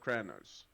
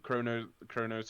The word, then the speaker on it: Kronos: Of Kranos, how's that pronounced? No, again? she's a female. She's a mother. Female. She's, She's the mother of Kranos. Kronos, yeah.